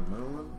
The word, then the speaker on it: Mun: to say one because it's not earth's moon it's kirbyn's moon which is spelled m-u-n people were talking about